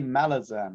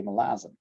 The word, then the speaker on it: Malazan: they never be safe they always say malazar and apparently that is not how you say it because you say melasm there's a lot going